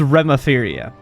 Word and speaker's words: Roperia: just letting you know roperia yeah it's roperia um okay yeah I don't know why they chose to make it that pronunciation but that's what it is sounds like